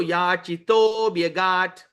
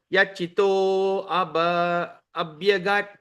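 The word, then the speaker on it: याचितोऽभ्यगात्: That means there's a silent A there. Okay. So Yachito Bayat. Bhyagat. Oa. So Oa. Wa. So Yachito Bhyagat. So that you don't pronounce the word A. You don't pronounce the word Yachito Abhyagat. We don't say that. So Yachito Bhyagat. So that's A becomes silent.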